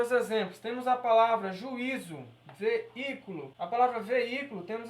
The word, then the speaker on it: juízo: E a pronúncia vai mudar também, vai ser juízo, juízo. Por quê? Porque a sílaba tônica está aqui, ó. Mas no caso, a minha sílaba tônica tem que ser o i sozinho.